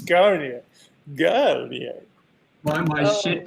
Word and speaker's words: Garnier: Barry, correct my pronunciation on that brand. Garni. And you have to use your hands a lot, you know. Garni. We could spend the whole hour listening to Barry pronounce Garnier.